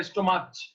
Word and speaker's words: stomach: We do not say stomach. We say stomach. So pronunciation is ko.